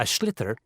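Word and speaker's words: sliotar: this ball called a schlitter that's s-l-i-o-t-a-r so it's not spelled the way it's pronounced you hit it into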